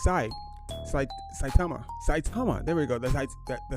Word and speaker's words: Saitama: my goodness I'm really struggling with the name pronounce this this this Criterium the satima I think it's it's sa saitama saitama there we go the the saitama Criterium in